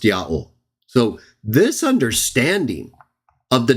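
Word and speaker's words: יהוה: The best evidence is telling us Yod, He, Wah and Yod, He, Wah, He are pronounced the same way. Ya'ol.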